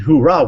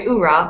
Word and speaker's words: oorah: be proffered prosperous and hoorah we're the best it's actually oorah but ok uh no